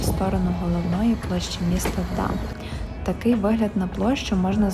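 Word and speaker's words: Dam: Ідемо ми в сторону головної площі міста Дам. Такий вигляд на площу можна зловити зйдемо. Назва дам буквально означає дамба голландською. Англійською, до речі, теж тільки читається Дем.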